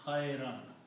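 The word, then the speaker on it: خيرا: So, this word becomes khayran. Okay, khayran.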